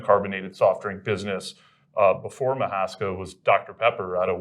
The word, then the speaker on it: Mahaska: Okay, let's start by talking about the Mahaska brand. And am I pronouncing that correctly? You were pronouncing it correctly.